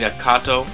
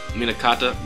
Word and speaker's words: Minato: Siri and um and U Minato minata I keep mispronouncing the name minata where they were where